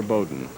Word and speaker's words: Beaudin: Now our challenger, Roger Beaudin. Name is spelled B-E-A-U-D-I-N, but that's how he pronounces it, rather than what the pure French, I guess, would be Beaudin.